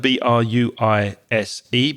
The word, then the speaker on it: bruise: Bruise is our next word, B-R-U-I-S-E. Be careful of the pronunciation. It's bruise. Say it with me. Bruise.